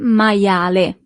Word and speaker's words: maiale: You see, as we have seen with the alphabet, the letter I is pronounced as I, maia, and then the letter E at the end is always pronounced as E in Italian. Il maiale.